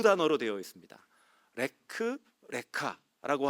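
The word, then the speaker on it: לך לך: 레크 레카라고 하는 단어입니다. 똑같은 단어인데 이제 발음 기호만 다르게 붙어 있거든요.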